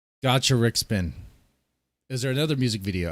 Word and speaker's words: Gacharic: Is there another video you'd like me to react to of Gacaric's? I've said it wrong again, I guess. Gacharic.